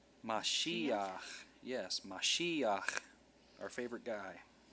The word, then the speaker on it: Mashiach: Meshiach. Mashiach.